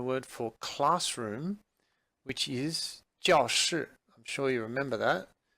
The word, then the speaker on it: 教室: Now, the thing I want to point out to you is that the word for classroom, 教室, the 教, the first character is pronounced in the fourth tone, 教室.